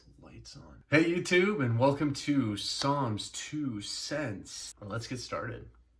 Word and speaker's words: Saam: has s double-a m first thing I wanted to go over is how to pronounce it does not not Sam Shawn trying to give anything else does Tom was it big one don't get it wrong it's song a lot of people